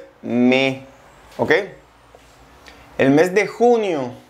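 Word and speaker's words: mai: fe fe marzo abril abril abril Mayo es me me junio y y Julio y Yu agosto es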